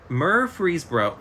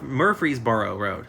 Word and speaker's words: Murfreesboro: name has 13 letters I'm gonna try to pronounce it for you Murfreesboro MuRF Murfreesboro Road Murfreesboro Road I'm gonna I'm gonna spell it